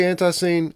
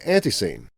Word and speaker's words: ANTiSEEN: mention about this episode, there are actually 2 correct ways to say the name of the band ANTiSEEN. I say ANTiSEEN, and Alex and Cap pronounce it ANTiSEEN. Now, if you're from Charlotte, you'll understand it's not unusual to hear people talk about the band in this way. Nobody even bats an eye at it.